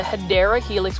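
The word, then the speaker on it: Hedera helix: what I like about the hedra helix or the hyera Helix which is the correct way to say for English ivy it is just a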